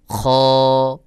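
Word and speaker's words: خاء: খ। খ। খ বলার সময় উচ্চারণের আওয়াজটা গোল মতো করে উচ্চারণ হবে, মুখ গোল হবে না, তবে আওয়াজটা গোল মতো করে হবে, যেমন খ খ।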